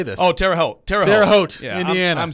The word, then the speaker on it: Terre Haute: was with cleveland's everybody's like ooh cleveland uh terry hot indiana i don't know how to say this oh terre haute terrace terre haute indiana i'm stupid i knew